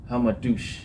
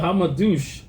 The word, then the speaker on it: Hamadouche: Hamadouche. Yeah, right? So she's fighting Maiva Hamadouche.